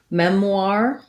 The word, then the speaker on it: memoir: question about memoir um so that's like bourgeois bourgeoisie except for a noir here so first syllable stress mem so i would say just kind of mem war memoir think about it like the word r and then with a w memoir memoir um and then